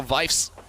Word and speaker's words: Vies: saying my name wrong it's not faes it's vies so I've corrected myself